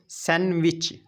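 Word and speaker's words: sandwich: चे की वाज देगा जैसे कि सैंडविच य डी साइलेंट है सैंडविच चट यानी कि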